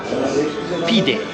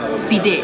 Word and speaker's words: pide: questa lunghissima pensiamo quest'altra pide finalmente siamo riusciti ad assaggiare le pide Anzi le PID con l'accento finale perché la c'ha corretto la cameriera PID Fè Io l'ho presa